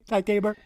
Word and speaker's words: Ty Tabor: Okay, Ty Tabor.